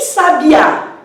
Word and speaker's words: sabiá: E em sabiá, nós temos uma palavra oxítona, já que a sílaba tônica é 1, de trás para frente.